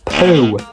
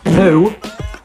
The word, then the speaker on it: Pu: Cliff Poo. And I do severely apologize if I've got his last name wrong, but it is literally spelled Pu. So, I'm going to say it. Cliff Poo is rumored to join the Sheffield Steelers.